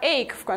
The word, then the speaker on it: ache: Обратите внимание на слово ache, на второй корень. Это слово латинского происхождения, а слова латинского происхождения читаются через звук «к».